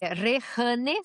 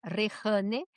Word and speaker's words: Rejane: Mira, minha rede, inclusive eu coloquei meu nome aqui, exatamente minha rede, que é Rehane, se escreve Rejane, Rehane, ponto, certo?